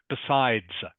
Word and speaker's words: besides: To make have to just be just make sure you are pronouncing the S, the final S for words that end in an S.